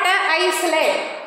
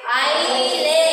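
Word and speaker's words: isle: It is not Iceland. What it is? I lay. Here also S is coming before the letter L. So that is also silent.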